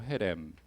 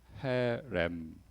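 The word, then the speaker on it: חרם: 헤렘 잠깐만 예 지금 히브어 히브리어를 오랜만에 썼는데 이게 다 자음이에요. 그 영어 알파벳 쓰면은 이게 우리로 해가 아니라 해 뭘 이런 발음이에요. 그 목가 목에서 나오는 발음이에요.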